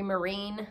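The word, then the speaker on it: Myrehn: bead on Instagram uh my name is Marine it's m-y-r-e-h-n I don't know why that's the pronunciation oh so find me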